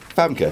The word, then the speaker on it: Famke: Is that how that's pronounced? Famke, yeah. I've always wondered. Famke.